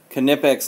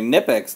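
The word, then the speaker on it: Knipex: stream the pronunciation debate is that it's over you don't have you can't have a kinetics knife you have to have a nip ex knife if nip ex made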